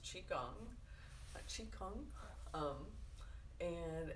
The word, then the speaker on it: qigong: a form of tai chi um so it's pronounced qigong chi kung um and it's just kind of a um